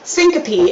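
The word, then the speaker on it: syncope: Um, syncopy is how you say this next word.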